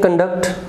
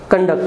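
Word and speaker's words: conduct: है कंडक्ट, और सेकंड syllable पे स्ट्रेस रहता है, फर्स्ट अनस्ट्रेस्ड रहता है कंडक्ट। और कंडक्ट जो है ये वर्ब बन जाती है।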